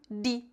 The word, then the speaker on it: de: Mas você vai ouvir brasileiros dizendo de ou de. Por exemplo, em Recife, Pernambuco, eles pronunciam di. Em algumas cidades do Paraná, as pessoas pronunciam de. Qual pronúncia você deve usar? Aquela que você preferir.